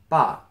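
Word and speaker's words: 爸: what this character is yes this is dad all right pronounced ba what we're talking about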